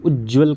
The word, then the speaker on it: उज्ज्वल: एक बार ज अगर लिखा है तो ये अशुद्ध है, इसके साथ जो उज्ज्वल का उच्चारण है वो 2 बार आधा ज का उच्चारण होगा। ठीक है, तो लेखनी में इसे ध्यान रखिएगा।